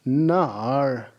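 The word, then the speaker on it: 哪儿: marvelous a wonderful job the pinjin for where is nar look at how student number four is demonstrating the tone na na when you are going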